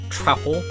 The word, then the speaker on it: Truffle: Truffle? Pronounced like mouthful.